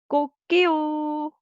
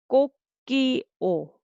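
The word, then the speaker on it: 꼬끼오: Okay, rooster sound is you may hear English version is cock-a-doodle-doo, but Korean we say 꼭게요. Okay, so I will say syllable by syllable. Go. First syllable go, and second syllable 끼, and third 오.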